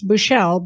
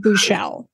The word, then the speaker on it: Buschel: on Facebook and I pronounced it incorrectly it's bouchelle but it's spelled b-u-s-c-h-e-l Leonard bouchelle yes I believe it's originally Austrian ah okay